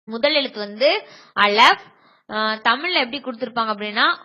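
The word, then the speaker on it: אָלֶף: முதல் எழுத்து வந்து அலஃப். தமிழ்ல எப்படி கொடுத்திருப்பாங்க அப்படின்னா ஆ லே இஃப், ஆலேஸ் அப்படின்னு கொடுத்திருப்பாங்க. ஆனா நம்ம அலஃப் அப்படின்னு உச்சரிக்கணும்.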